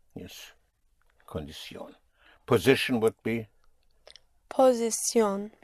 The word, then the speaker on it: posición: Posición. Posición. You are only allowed one stress, yes.